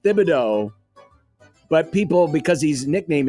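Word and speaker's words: Thibodeau: It is pronounced Thibido, but people because his nickname is Tibs, they sometimes say it's Tibido, but apparently it is Thibido.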